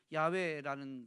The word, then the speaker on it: 야훼: 야외 발음하게 따라서 있는데 요즘은 야외라는 말이 더 지지를 받고 있죠 야훼라는 것인데 그는 이렇게 이야기합니다 야외에는